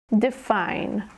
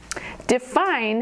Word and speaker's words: define: Define. Define has two syllables, define. The emphasis is on the second syllable, define, define, define.